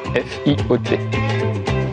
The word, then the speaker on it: Fiot: Fio, F-I-O-T. Ça se prononce Fio, pas Fiotte.